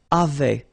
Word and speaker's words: avaient: And then you saw probably that we've got also here A-V-A-I-E-N-T, but then you pronounce it avait.